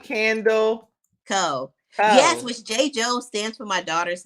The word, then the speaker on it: JaiJou: It's Jaidyn and Journey. Those are my two daughters that I absolutely love. And the company name starts from, because Jaidyn spelled with JAI, and then Journey spelled regular. So it's JOU.